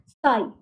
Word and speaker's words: Ψ: PSI इज इसकी pronunciation है साई.